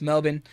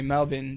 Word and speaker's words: Melbourne: to Adelaide and then I finally settled in Melbourne down in the down in the south and before anyone brings it up or before you ask me that it is pronounced Melbourne it's not Melbourne that's how that's how you